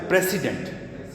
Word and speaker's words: precedent: ہیں نا، تو یہ دیکھیں ایک لفظ ہے پریسیڈنٹ، یہ دیکھیں اس میں یہ دونوں الفاظ، ایک ہوتا ہے شروع میں ہم نے کہا پریزیڈنٹ، اس کا سپیلنگ کیا ہے؟